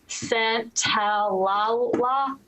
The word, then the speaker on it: Santaolalla: Gustavo Santaolalla, I think is how you say it.